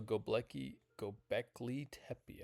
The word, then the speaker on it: Göbekli Tepe: Okay, so Gobekli Tepe.